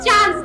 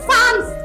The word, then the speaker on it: sans: The pronunciation is not chance, it's sans.